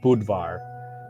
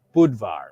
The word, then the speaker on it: Budvar: to use the word budvar which is like more of the Czech pronunciation um and Budweiser tried